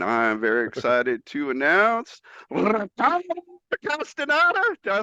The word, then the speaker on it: Castaneda: But he's just been named to the USA Paralympic soccer team, and I'm very excited to announce Castaneda.